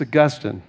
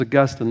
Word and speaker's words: Augustine: I had my expert check that pronunciation. It's Augustine. It's Augustine, not Augustine.